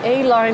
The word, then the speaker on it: Aline: So I thought A-line is nice, but if the French would pronounce it, they would say Aline.